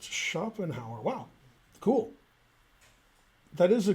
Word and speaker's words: Schopenhauer: here yeah story yeah exactly okay um it's pronounced schopenhauer wow cool that is a good pronunciation okay